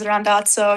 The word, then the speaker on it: Randazzo: I feel like the Italian pronunciation is rando. You know, whenever I'm in Italy, that's that's the normal one.